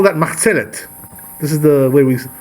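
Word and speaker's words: מחצלת: You know, in Hebrew we call that machzelet. This is the way we pronounce it in Hebrew.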